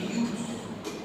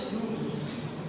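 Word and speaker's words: jus: বলেছে জুস জে ইউএস এমনিতে এটা একটি লেটিন শব্দ লেটিন এটার আসলে মূল উচ্চারণটা হচ্ছে ইউজ কেমন কিন্তু আমরা যেহেতু অক্ষরটা দেখি সেজন্য আমরা জুস জুস ইজ রেড প্রক্রিয়া জুস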